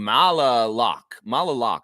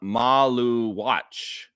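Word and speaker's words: Maluach: It's Kaman Maluwatch. Maluwatch. Kaman Maluwatch. Maluwatch. Like you say the word watch at the end of his name, y'all.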